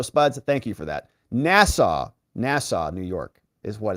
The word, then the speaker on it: Nassau: we got spuds here says it's pronounced nasau Rob not nasua yeah thank you for